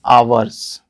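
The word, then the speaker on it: hours: 2 वर्ष तो दोस्तों इसको इसमें जो ह होता है वह साइलेंट होता है उसका ट्रांसलेशन नहीं करते हैं तो इसको हम क्या पढ़ते हैं अवर्स है ना तो आपका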